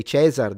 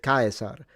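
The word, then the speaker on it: Caesar: They didn't say chzar. They said kaar.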